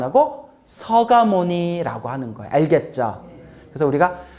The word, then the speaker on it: 석가모니: 쓰기는 그렇게 쓰되 발음은 완화시키는 거예요.